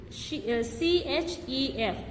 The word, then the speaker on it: chef: Next, the letter group CH sometimes make a sh sound. Okay, here sometimes makes a k sound, here sh sound. Okay, CHATEAU, chateu, CHEF, chef, BROCHURE, brochure.